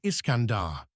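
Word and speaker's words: Iskandar: The name Kandahar is actually a corruption of Iscandar the Persian pronunciation of Alexander.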